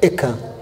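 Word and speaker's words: אֵיכָה: No hebraico é ekan, ekan.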